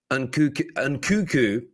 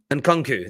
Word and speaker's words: Nkunku: But Christopher Nkunku, I'm now saying it wrong. Nkunku, there we go.